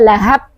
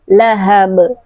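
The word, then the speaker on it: لهب: Di situ adalah huruf ha, bukan ha. Lahab. Nah, ujungnya adalah huruf ba lagi. Nah, ingat, ba memiliki sifat qalqalah. Tidak boleh kita membacanya lahab, tapi lahab.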